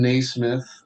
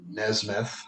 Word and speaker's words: Nesmith: Jason Naismith, or Nesmith, however you want to pronounce it, played by Tim Allen, relishes the attention while the rest resent him.